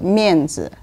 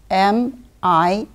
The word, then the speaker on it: Mianzi: Today I'm going to talk about the Chinese word Mianzi, and it is spelled as M-I-A-N-Z-I.